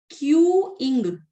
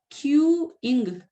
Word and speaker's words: queuing: ये इसका प्रोनाउंसिएशन है क्यूइंग। क्यूइंग ऐसे बोलोगे एक साथ तो क्यूइंग, ठीक है?